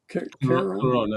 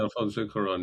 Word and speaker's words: Cuarón: So there was a quote from the director, who's sorry about I'll get Jonathan to pronounce the man's name. It's Alfonso Cuarón. Cuarón, Alfonso Cuarón, yeah.